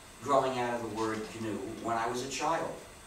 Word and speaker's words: GNU: But it still is GNU, and it always will be GNU, no matter how many people pronounce it Linux by mistake. So please pronounce a hard G.